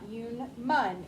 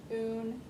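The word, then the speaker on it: unum: after the p pluribus human you switch the n and the m it's not human but in mind there's no there's no n the m's at the end so it's not you mun it's oon cover up u n and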